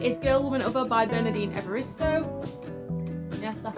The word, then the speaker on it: Bernardine Evaristo: The next book that I want to read is Girl, Woman, Other by Bernardine Evaristo. Yeah, that's how you pronounce the name.